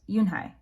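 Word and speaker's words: Unhei: turned to joey she nodded slowly yes it's pronounced yoon hai and it means grace mr kim added yoon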